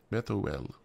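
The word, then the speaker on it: Bethuel: what we got and it says pronunciation Beth o l o l Beth oh well instead of u l it's o l okay apparently the same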